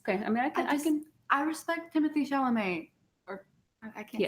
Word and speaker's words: Timothée Chalamet: Okay, I mean, I respect Timothée Chalamet, or I can't say his name right.